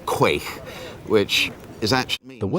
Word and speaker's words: quaich: There's pronunciations but the usual one is quaich, which is actually